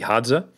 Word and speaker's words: Hadza: So you've probably heard us talk about on Iron Culture before the Hadza, and I think that's the first time on Iron Culture I've correctly pronounced and not dyslexified the D and the Z.